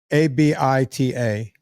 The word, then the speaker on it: Abita: It's a good thing I had you spell that for me because I was searching like Ibiza or Ibiza. No, it's Abita, ABITA.